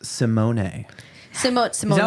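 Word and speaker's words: Symoné: I found out recently her name is actually pronounced Simone.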